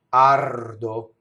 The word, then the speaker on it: ardo: The R in this next word touches the D. Ardo.